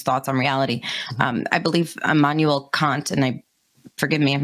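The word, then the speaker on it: Immanuel Kant: philosophers about these thoughts on reality i believe emmanuel kant and i forgive me if i'm not pronouncing that correctly that is the correct pronunciation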